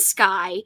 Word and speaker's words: Skye: you've got sky and Skye and the only difference between the two skies in the story is that one has an e but it's pronounced the same so that to me